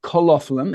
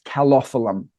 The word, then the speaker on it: Calophyllum: No, it's not colophyllum, it's calophyllum.